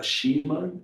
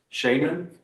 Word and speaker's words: shaman: and um with um it's called a shiman or a sham shaman. Yes, shaman.